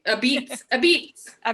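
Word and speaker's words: apizza: a at the beginning first of all it's pronounced a piece right a beets a beet a b right a b that's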